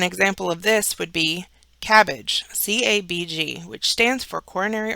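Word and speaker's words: CABG: acronym which is a term that can be pronounced from its abbreviated letters so an example of this would be cabbage c-a-b-g which stands for coronary artery bypass graph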